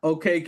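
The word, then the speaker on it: Okeke: So it's Chuma OKK is how you say his name.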